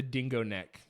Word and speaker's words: Dingonek: So I looked up the dingo neck. It's spelled DINGONEK.